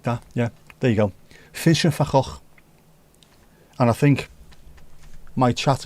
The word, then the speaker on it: Vincent van Gogh: off his own ear, is pronounced Vincent van Gogh. There you go. V is pronounced as F. Vincent van. Vincent van. And then G is G.